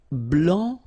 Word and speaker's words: blanc: okay, so here, masculine, blanc, don't pronounce the final C, and then blanche.